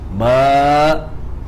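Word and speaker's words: باء: So I go up, prolong at alif, ends at hamzah. Ba. So I end at where? End at hamzah.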